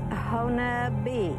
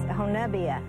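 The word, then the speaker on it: Honobia: First off, I want to make sure, is it Hanobia or Hanoba? It's Honabi is the way it is pronounced, but it's Honabia is actually the word, which I understand means dead man.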